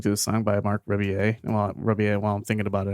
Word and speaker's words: Rebillet: Well, it's Rebillet is how you say his last name.